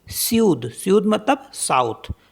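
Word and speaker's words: sud: फ्र करके पढ़ कोल्ड इसका एक्सेप्शन है एस यूडी सूद सूद मतलब साउथ तो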